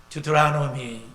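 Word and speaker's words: Deuteronomy: 신명기를 듀트라노미, 영국식 발음은 그렇고요. 미국식 발음은 잘 모르겠습니다.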